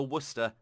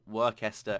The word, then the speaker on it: Worcester: We got the Seattle, we got the Helena, Dallas, and the Worcester, not Worcester, as I heard someone pronounce it.